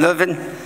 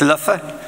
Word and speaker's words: Leuven: to be here again to be back in liven um although my Dutch teacher insists it's Lua don't push the NS and always pronounce the v's as FS so I come